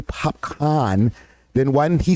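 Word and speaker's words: Popcaan: It's funny when people don't know how to pronounce his name and they're like, Popcan. Because it kind of spells out like Popcan, right? This with 2 A's. Popcorn. And then somebody has to correct them. Popcorn.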